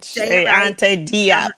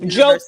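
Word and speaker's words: Cheikh Anta Diop: Che, say it right. Che Ante Diop. That's right. Jope is really how you say it in Senegal.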